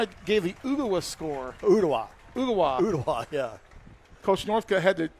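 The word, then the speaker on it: Ooltewah: Ugawa, yeah. Coach Northcutt had to teach me how to pronounce Ugawa.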